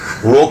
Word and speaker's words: Roarke: Because I'm like, okay, my name's Roarke. Like, rhymes with dork, but then with an A and an R.